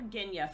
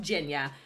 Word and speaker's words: Genya: pronounced jinya i was calling her genya for the longest time it was pronounced jenya this is a gorgeous